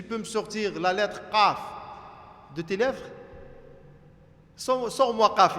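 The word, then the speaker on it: ق: Si je te demande maintenant de prononcer qa, ça se prononce quoi? Au fond de la gorge, ici, hein, à la fin.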